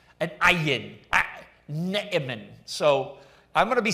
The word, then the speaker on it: Naaman: you know, take up, but Naaman Naaman is how you would say his name.